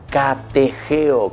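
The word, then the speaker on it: κατηχέω: Y esa palabra se dice catejeo.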